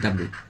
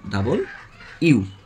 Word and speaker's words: W: আরেকটা ব্যতিক্রম হচ্ছে আমরা সবাই বলি ডাব্লু, এটা সঠিক উচ্চারণ হচ্ছে ডাবল ইউ।